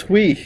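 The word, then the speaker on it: Huy: That's hui. All right. E. You say hui now, I can't pronounce it now.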